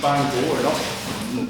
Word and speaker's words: Bangor: Well, and and may I also add the American pronunciation of Bangor is being butchered by our dear vice president. It's Bangor.